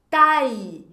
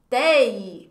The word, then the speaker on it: taille: La taille. Attention à la prononciation. Olha só, gente. Essa aula aqui tá cheia de dica de pronúncia, hein? Tai. Vai ter pessoas que vão querer pronunciar tei. Por quê? Porque a gente já viu também aqui que a com i tem som de e ou de é, bem aberto.